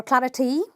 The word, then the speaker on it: clarity: which means I'm gonna stress a liberal number one and say clarity please give me some clarity not clarity or clarity its clarity okay then now if